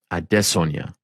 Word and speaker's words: Adesanya: Note the pronunciation. Adesanya.